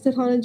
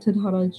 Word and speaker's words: Tadhana: Hello, my name is Titana. I've been many people and also the whole world. You can find me on my socials at Tadhana.